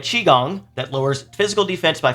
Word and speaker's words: qigong: the ultimate qigong skill thank you to all comments telling me i'm dumb and pronouncing it wrong ultimate qigong that lowers physical defense